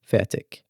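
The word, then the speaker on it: FAIRTIQ: You spell that F-A-I-R-T-I-Q Fetic.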